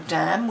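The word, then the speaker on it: Damh: really encourage you to Google um stag or Dam which is spelled D MH um and kinus and Hearn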